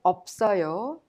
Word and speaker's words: 없어요: When you pronounce them, you pronounce the first one as it is, and the second one is prolonged to the next syllable or vowel. So, in simple terms, the first final consonant 비읍 in of 없어요 makes the up sound, and the second final consonant is prolonged to 시옷 to create a 없어요 sound due to its harsh sound.